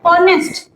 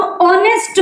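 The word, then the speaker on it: honest: लेकिन जो रूल है यानी जो ध्वनि है वो आ रही है ऑनेस्ट। एच साइलेंट है यहां पे। तो इसको हम ऑनेस्ट बोलते हैं। ऑनेस्ट तो ओ क्या है?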